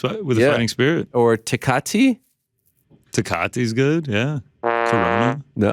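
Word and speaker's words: Tecate: a fighting spirit or takati takati is good yeah no wow not a fan i always heard it pronounced decate oh all right sorry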